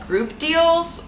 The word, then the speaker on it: groopdealz: It's from a website called groopdealz, which is spelled weird. It's like OOP and deals with a Z.